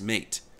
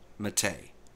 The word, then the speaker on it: MATE: Most Englishspeaking people will pronounce mat as mate. However, when referring to the mate desktop, the correct pronunciation is mate.